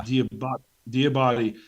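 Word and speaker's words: Diabate: Another guy we talked about a little bit, we mentioned, but how do you say his name? Is it Diabati? Yeah. Diabati.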